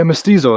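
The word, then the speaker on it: mestizo: I'm uh, how do I pronounce it? You're going to say Mystiso? Yeah. Mystizo.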